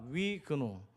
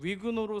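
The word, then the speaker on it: Huguenot: 한번 좀 발음이 어렵지만 따라해 보겠습니까? 위근노.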